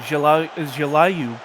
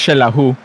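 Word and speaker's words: Xelajú: The other one, Jelayu Cosmico, I believe is the pronunciation, will be in Sorry? It's pronounced Shelahu. Well, there you go, Shelahu.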